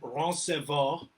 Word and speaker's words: Roncevaux: I'm going to screw up the pronunciation because it's French. It's Roncevaux. Okay. It's Roncevaux.